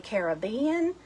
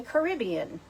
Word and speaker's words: Caribbean: this some people say Caribbean and some people say Caribbean so if you say